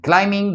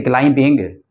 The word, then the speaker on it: climbing: here look somebody's climbing climbing that tree we don't have to say client being we see climbing climbing B is Silent Hill look somebody's somebody